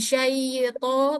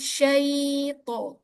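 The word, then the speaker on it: شيطان: Jangan syait tapi syait sya mengalir. Syait.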